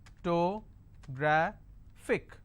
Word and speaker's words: photographic: It's photographic. And since it's ending with IC, I will stress on gra.